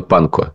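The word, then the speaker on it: Pankow: есть муниципальных депутатах района панко Помнишь мы всё время шутили про район Панков оказывается что традиционно в этих словах буква в в конце не произносится поэтому он район панко Ну он наверно панко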